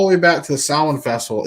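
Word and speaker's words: Samhain: all going all the way back to the sound Festival it's not pronounced samheim vessel by the way folks in case you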